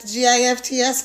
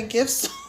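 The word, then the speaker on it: GIFs: bunch of stuff like GFS cuz they don't like you to say gifts rise rhymes with lips then those creators they like literally kick you out of their room.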